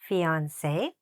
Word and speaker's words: fiancé: family parents mother father brother sister mom dad son daughter husband wife fiancé These are both pronounced exactly the same. Just the spelling is different.